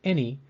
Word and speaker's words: any: The A in any sounds like the short E sound, or eh.